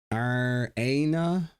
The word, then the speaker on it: Iryna: Iryna is pronounced Iryna. I've heard it pronounced.